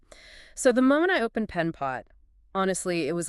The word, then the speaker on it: PenPot: So yeah, today our deep dive is going to focus squarely on penpot. That's P N P O T. Uh pronounced Pen Pot.